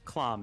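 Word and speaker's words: хлам: likes clam well claim it's clom is how it's pronounced in Russian or in bad Russian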